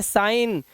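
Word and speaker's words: sign: इसीलिए इसे पढ़ते हैं रिजाइन, इसे पढ़ते हैं साइन, इसे पढ़ते हैं कैंपेन। जी साइलेंट फॉरेन।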